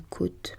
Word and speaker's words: côte: Une côte pleine de récifs, une côte de port se prononce avec un O fermé comme dans haute.